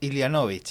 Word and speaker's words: Ilianovic: Estaban conversando nuestros invitados muy animadamente, porque efectivamente estamos junto a José Antonio tu apellido, ¿cómo se pronuncia? Ilianovich.